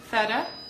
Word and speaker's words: feta: this life session so let's learn to say feta huh the Fed so that tea turns into D feta oh my fridge is